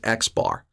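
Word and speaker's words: x̄: over the top and that's going to be pronounced x bar i like to joke around that you know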